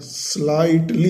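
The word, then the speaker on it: slightly: colour is स्लाइटली dark, स्लाइटली, इसमें देखो विच words are silent, GH, स्लाइटली, GH को यहाँ पर रीड नहीं कर रहे हैं, है ना, लिखते रहे लेकिन रीड नहीं करेंगे, पढ़ते नहीं, स्लाइटली डार्क, थोड़ा सा कलर,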